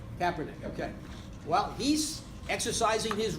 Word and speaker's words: Kaepernick: does how does colin is it Kaepernick or Kaepernick I don't know how he pronounces evening definitely Kaepernick okay well he's exercising